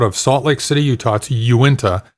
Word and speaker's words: Uinta: salt lake city utah uinta i believe is how it's pronounced uinta you went to ipas